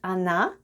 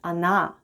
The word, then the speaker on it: она: The first letter is O, and it's unstressed and is pronounced as A. Then we have N and A at the end. And altogether it's она.